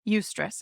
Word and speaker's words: eustress: at pronouncing things so but it's e u s r SS eustress I think is how you say it and Miriam Webster describes